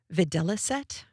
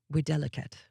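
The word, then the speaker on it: videlicet: Videliset, Vi Di T, or if you are going to pronounce it apparently correctly in Latin, widelet.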